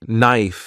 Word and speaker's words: knife: can also be difficult words like knife and night have silent letters which can be confusing